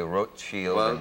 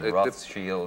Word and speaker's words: Rothschild: in the European version I've heard people who know them family say Ro Shield Ro Shield depends if you're German